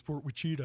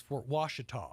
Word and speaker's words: Fort Washita: And I've heard so many people say, you're saying it wrong. It's Fort Wichita. I'm like, no, it's Fort Washita.